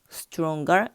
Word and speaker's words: stronger: 근데 실제 영어에서는 행거가 아니고 hanger라고 얘기를 해줘요. 그러니까 동사에 er 붙을 때는 그냥 어로 붙여주고 형용사에 er이 붙게 되면은 제일 마지막에 g 발음을 넣어가지고 stronger, longer 이런 식으로 발음이 된다라는 것도 같이 알아두면 좋을 것 같아요.